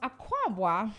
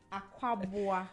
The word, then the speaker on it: Akwaboah: That's not how you pronounce. Akwaboah. Akwaboah. Yeah. You're putting in an accent. Aqua. Like you're saying Akwaba. So Akwaboah. And then, no. So aqua and then you add boa. Aqua.